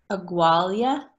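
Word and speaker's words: abhaile: Agualia. Okay. So B is not necessarily always B. How about be quiet and go home now? So be quiet and go home now. Kune agus che agualia anish.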